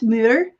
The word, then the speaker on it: moor: think it's like a Moore yes I don't know if that's what they're called is that how you pronounce it a uhhuh or if you're from Scotland it's Mir A Mir yeah I